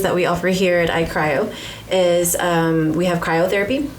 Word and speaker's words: iCryo: here we are we are at Lake Jackson I cryo am I saying it right yes okay correct